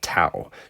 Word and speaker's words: tau: And again, a lot of students will say, well, couldn't you spell toa like T-A-O? Well, I pronounce that tau. T-A-O is tau, where T-O-A is toa.